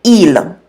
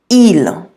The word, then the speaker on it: ils: so repeat after me Elam Elam you'll notice that I don't pronounce the S on there it is always silent unless it's followed by a vowel now ela means they